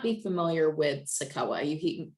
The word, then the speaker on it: CICOA: with sakawa you he you hear me keep saying sakoa you're like how the heck do i even spell that well it's c-i-c-o-a um and sakoa aging and in-home solutions that's the full full name but if you just refer to us that's sakawa that's sufficient too but just real quick